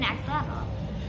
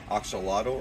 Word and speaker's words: axolotl: So technically, the traditional pronunciation of axolotl or ajolote is Axolotl.